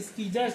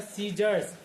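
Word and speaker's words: scissors: इसको अगर हम ऐसे पढ़ते तो स्कीजर्स पढ़ते हैं। लेकिन इसको पढ़ा जाता है सीजर्स। क्यों? क्योंकि सी के बाद आई आया तो सी का सी क्या हो गया? साइलेंट हो गया।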